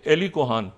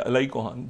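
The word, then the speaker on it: Eli Cohen: है जिसका नाम है एली कोहान, अगर कोई वक्त हो तो मैं थोड़ी सी बात करूँ। एली कोहान या अलाई कोहान, जो भी इस तरह प्रोनाउंस करें, उसकी बाकियात भी वापस हो रही हैं।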